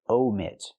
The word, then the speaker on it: omit: But she wants to say omit. Use a long O like no and go.